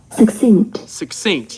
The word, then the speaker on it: succinct: The way you pronounced it, I think it may have stressed the first syllable or something. Everybody say succinct, concise.